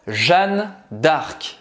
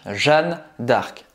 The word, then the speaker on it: Jeanne d'Arc: Então, de novo, a gente não vai falar dark, tá? Não tem I no final. Então, dark termina a pronúncia no C. Como é completo? Jeanne d'Arc. Jeanne d'Arc.